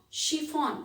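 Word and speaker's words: chiffon: drink champagne she found she found ch again and if the sound is sure she found it's a type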